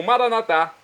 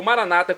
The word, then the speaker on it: Maranata: E agora eu clamo Maranatá, como dizemos nós católicos, ou maranata, como dizem nossos irmãos separados das comunidades evangélicas ou protestantes.